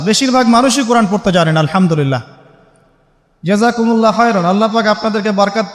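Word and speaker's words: الحمد لله: পড়ছেন আল্লাহ আল্লাহু আকবার আলহামদুলিল্লাহি রাব্বিল আলামিন এইতো আপনি পড়ছেন আলহামদুলিল্লাহ শব্দটা কি আলহামদুলিল্লাহ এই হা এর মাখরাজ কোথায় হা এর মাখরাজ কোথায় বলেন একজন কণ্ঠনালীর মাঝখান থেকে এখান থেকে আপনি উচ্চারণ করছেন আলহামদুলিল্লাহি রাব্বিল আলামিন অর্থ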